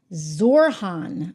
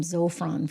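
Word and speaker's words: Zohran: Oh gosh, we're spelling his name wrong. You know, I'm gonna have to get used to this. Zorhan. I keep wanting to call him Zopron for some reason.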